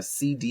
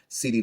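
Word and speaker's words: CeeDee: um our starts are cd lamb of the dallas cowboys um and that cd is spelled c-e-e-d-e-e um cd lamb of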